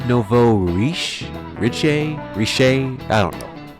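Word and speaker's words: nouveau riche: do you pronounce it is that Novo it's Novo reish Rich reish I don't know speaking of you know let me look it up right quick I'm back apparently it's pronounced Novo reish so that's what it is but in French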